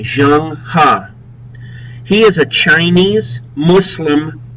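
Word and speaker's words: Zheng He: I see on the region a lot is Jang ha notice how I pronounce his name Jang ha he is a Chinese Muslim Admiral he led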